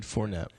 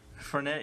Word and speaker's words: Fournette: Leonard Fournette. Fournette, yeah.